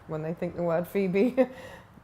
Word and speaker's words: Phoebe: they think the word Phoebe I think the fact it's spelled so differently to how it's said p h o e